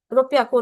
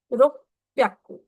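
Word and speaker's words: ろっぴゃく: प्याकू ऐसे करना है अगर आप सिंगल पी लगाते हो वो भी प्रोनाउंसिएशन गलत है बहुत लोग इसको ऐसे प्रोनाउंस करेंगे लाइक रुपयाकू रो प्याकू इतनी जल्दीबाजी में हमें नहीं प्रोनाउंस करना रुक पियाकू रूप प्याकू ठीक है 700 इज़ नाना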